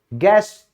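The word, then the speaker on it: guest: जैसे मार्गदर्शक, वो होता है गाइड, यू क्या हो गया, साइलेंट हो गया। मेहमान, गेस्ट, तो यू के बाद क्योंकि ई है तो यू साइलेंट हो गया, यहां पे आई था इसलिए यू साइलेंट हुआ।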